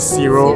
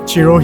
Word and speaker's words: Ciro: I pronounced it Ciro earlier on. And I think just now when I met Chef Chiro, he pronounced his name as Chiro, so I'm sorry Chef, my apologies.